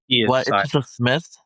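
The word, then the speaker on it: Psmith: Josiah Neely and we have a very special guest Jane Pith of the Pith Substack where they Smith. Okay. Okay. Whatever. P is silent like pseudonym.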